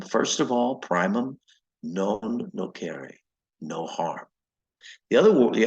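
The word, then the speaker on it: nocere: n o c re e which um and pronounced actually Latin is no car but uh it means to do harm so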